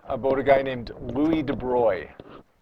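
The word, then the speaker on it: de Broglie: very very briefly about a guy named Louie de Bry it's pronounced de it looks like de brogle L de Bry took some Physics that Albert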